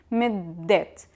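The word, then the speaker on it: مدة: Midde, as you see, it has ta marbuta at the end. It's pronounced usually as a or e. But here we pronounce it as ta because it considered as idafa with the word that it comes after it. So we have to pronounce it middet.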